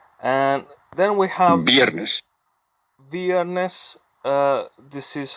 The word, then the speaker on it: viernes: then we have bareness viernes this is how I would pronounce it but how other it is be honest it is pronounced like a bee yes and it means